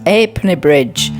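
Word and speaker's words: Ha'penny Bridge: Guys, I'm actually pronouncing it wrong. It's Halfpenny Bridge.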